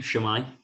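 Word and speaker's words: su'mae: Shwmae.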